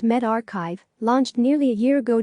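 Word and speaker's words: medRxiv: the preprint server focused on medicine Meldrick SIV pronounced med archive launched nearly a year ago dot bu t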